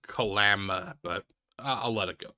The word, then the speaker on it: Kalama: One of the notable missing girls was Sheila Silvernails of Kalama, a city in Washington's... It's actually pronounced Kalama, but I'll let it go.